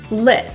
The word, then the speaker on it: lit: anything like it before the tea is generally not released and it's going to be kind of held in your throat flip that's a glottal t sorry to interrupt but